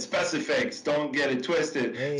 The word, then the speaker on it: Specifics: So we say specifics, and then in one of the lines, I said specifics, don't get it twisted.